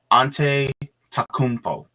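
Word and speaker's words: Antetokounmpo: Raziel the Great says it's pronounced Ante Takumpo.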